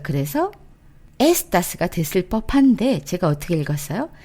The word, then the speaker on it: está: 자, 3인칭도 한번 볼게요. 에스타, 에스타. 아센토 느껴지시죠? 여기에서도 아로 끝났으니까 어때요? 맨 앞에 있는 모음, 그것이 뒤에서 두 번째의 모음이기 때문에 그걸 올려야 되는데 이것도 예외로 맨 뒤에 아를 올려주세요 라는 표현으로 아센토를 찍은 거예요.